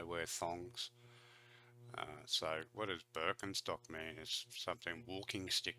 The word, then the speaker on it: Birkenstock: their native accent so English speakers usually say Birkenstock in German we say Birkenstock Birkenstock Birkenstock which literally translates to